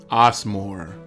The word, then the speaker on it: Osmore: we're going next, to Osmore. Osmore. Yes, that is the Latin pronunciation.